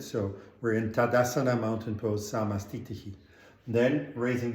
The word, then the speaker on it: Tadasana: So we start in Tadasana, feet together, hands at heart center, Samastitihi. The pose is samastiti, but we say samastitihi, which means going into samastiti, right? So we're in Tadasana, mountain pose, samastitihi.